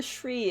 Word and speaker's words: Sri: you read it yeah the Shri one cuz it sounds like a sh like a sh Sri Lanka but it might be